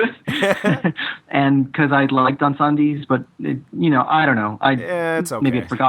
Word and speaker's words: Incendies: Kevin, did I do a decent pronunciation of that? I think it's Denis Villeneuve. Incendies is correct, yes.